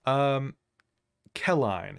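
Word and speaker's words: Qelline: if I mispronounce it, it's actually Kelline is what I'm going to say.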